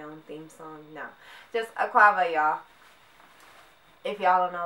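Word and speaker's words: akwaaba: No, just akwaba, y'all. If y'all don't know what that means, it means welcome, entry, I'm Ganyan. That's where it's from. That's how you say it. Welcome, akwaba.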